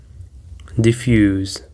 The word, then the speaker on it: defuse: Diffuse. Diffuse actually is of two syllables and the stress is on the second syllable.